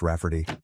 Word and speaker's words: Rayfarty: She told my mom that spelling it Rayfarty will be obvious that it's pronounced Rafferty, but it makes it look more girly.